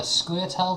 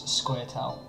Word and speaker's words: Scoia'tael: it's kind of phonetic if you think like Scoia'tael or Scoia'tael. So it depends on how much you pronounce the A, I suppose.